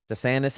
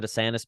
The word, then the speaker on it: DeSantis: Sometimes he pronounces it Ron DeSantis. Sometimes he pronounces it Ron DeSantis. So it's a little weird. If we're going like proper Italian, it would be more DeSantis.